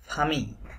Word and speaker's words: famille: যদি ফরাসি ভাষার কোনো শব্দের মাঝে বা শব্দের মধ্যে ডাবল এল থাকে তাহলে অধিকাংশ ক্ষেত্রে ডাবল এলটি সাইলেন্ট হবে, বাট কিছু এক্সেপশন আছে। সো এই ফামি এই শব্দটাও তেমন একটা শব্দ যেখানে ডাবল এলটা উচ্চারণ করতে হবে না। তাহলে এটা কি হবে? মা ফামি, মা ফামি।